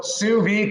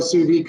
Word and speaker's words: sous vide: So sous vide cooking. It's French again. It's another French word I know. I can spell it actually.